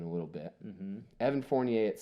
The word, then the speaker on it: Fournier: Evan Fournier.